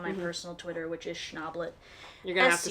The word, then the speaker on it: Schnablette: personal Twitter which is schnablet you're gonna have to spell that n-a-b-l-e-t-t-e it's based on my last name but it's also like the word owlette which is a baby owl so funny oh no